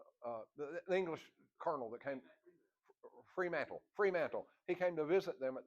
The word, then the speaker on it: Fremantle: Sir Arthur Mantle Freeman, how you pronounce that? Sir Arthur, the English colonel that came, Fremantle.